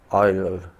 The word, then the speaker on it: Euler: Now these equations are known as Euler's equation. They are known as Euler's, pronounced as OILER, Euler's equations.